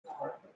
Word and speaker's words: Knorr: K-N-O-R-R. Nora. Yeah. It's Nora. Silent K.